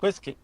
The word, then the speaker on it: Qiskit: I asked him to spell it out for me. What was it? Not Nesquik, but Qiskit.